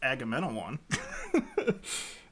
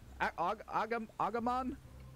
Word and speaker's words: Agamemnon: And Tuca was explaining that Agamemnon, if you guys want to know how to pronounce that, it's Agamemnon.